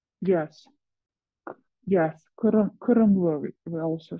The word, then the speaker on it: Qirimli: Like, as far as I pronounce it correctly, it's Qirimli, right? Yes. Yes, Qirimli, we also say.